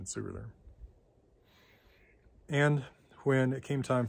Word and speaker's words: Sigurður: I like that because, of course, the letter eth stands for a TH sound. So transliterating Sigurð instead of Sigurd is actually closer to the Old Norse pronunciation Sigurður.